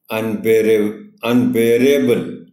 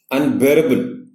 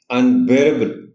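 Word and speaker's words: unbearable: अनबेरेबल, ایک تو اس میں اسٹریس بی پر ہے. دوسرا آنریبل ٹیچر یاد رکھیے گا کہ بہت سے ورڈز جو ایبل پر ختم ہوتے ہیں ان کا جو اے ہے اس کو لمبا کر کے نہیں پڑھا جاتا. ہم ایسا نہیں پڑھ سکتے کہ اس کو ایسے کہیں انبیریبل، وہ غلط ہو جائے گا. یہ بہت شارٹ ساؤنڈ ہوگی اے کی، تقریباً نہ ہونے کے برابر.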